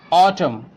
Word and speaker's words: autumn: letter in that word you can see here autumn we are not pronouncing n here column damn him and